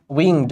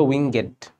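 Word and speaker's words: winged: উইংড মানে পাখা।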